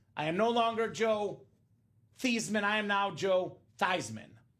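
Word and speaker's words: Theismann: they said Hey Joe let's change the pronunciation of your last name you are no longer thian you're are now Joe thyman now Joe nice person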